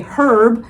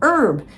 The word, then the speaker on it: herb: So, at any rate, just just to let you know, which it's it's not it's no different than whether you say herb or erb.